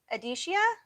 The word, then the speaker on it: Adeshia: i'm saying it right adeshia so sorry so the e is silent perfect thank you i